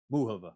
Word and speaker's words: Muchova: I have always heard Muchova's name announced or pronounced Muchova. Everybody on ESPN was saying Muchova, Muchova.